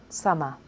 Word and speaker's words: summer: Summer. Summer is my favourite season. So in teacher, lawyer and summer, we had the schwa on the second syllable.